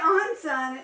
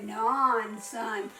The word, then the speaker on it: Onson: It shouldn't say Onson. It should say non-son.